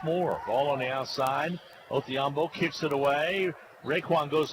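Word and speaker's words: Odhiambo: Spells his name with a D, but pronounced with a Othiambo.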